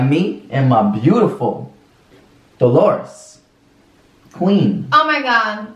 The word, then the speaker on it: Dolores: Dolores And if you want to know how it's spelled, because I know you guys are going to be trying to spell it out, it's DOLORES, dollars.